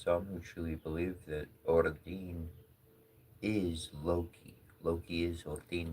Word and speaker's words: Odin: It's actually pretty interesting because many of my workings, like in many of my studies, I find that Odin, I pronounce his name as Odin.